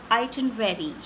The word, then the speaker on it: itinerary: why I want to focus on the right pronunciation which is iton ready the our was actually pronounced in the right